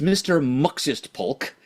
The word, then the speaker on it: Mxyztplk: This is Mr. Muxist Polk. The main difference is that his name is spelled MXYZTPLK instead of MXYZPTLK.